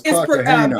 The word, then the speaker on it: Cartagena: It says Joseph Fat Joe Cartagena. Is that how you pronounce his name, y'all? No, it's Cartagena.